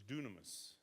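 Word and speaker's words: δύναμις: The way it's pronounced is dunamis.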